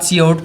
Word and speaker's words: cout: COUT हम लोगों के साथ सी आउट प्रोनाउंस होता है, और इसमें हम